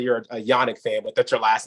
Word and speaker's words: Janak: the people out there your last name is pronounced Yannick that's correct Yannick and it's spelled with a J so I was gonna